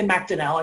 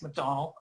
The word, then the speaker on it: MacDonnell: also kevin mc sorry we say macdonnell i think it's mcdonnell um it's how he pronounces it um his blog cool